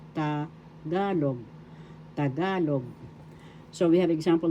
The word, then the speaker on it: Tagalog: Tagalog the second syllable ga is where the accent is. So that's how it is pronounced tagalog.